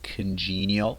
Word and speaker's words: congenial: Congenial, whose approach is congenial. Congenial. Pay attention to the stress pattern there with stress on the second part, congenial.